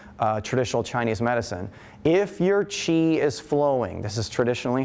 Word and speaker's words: Qi: main theories behind traditional Chinese medicine, if your Qi is flowing, this is traditionally how it's said,